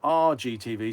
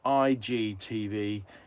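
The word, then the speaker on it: IGTV: never mind it's not it's not our G TV sorry about my pronunciation it's IG TV Instagram teeth Instagram which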